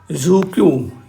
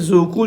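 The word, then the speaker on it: Dzükou: में पड़ती है ये जुकू यह नाम थोड़ा सा ऑकवर्ड है डी साइलेंट है जुकू जो वैली लाई करती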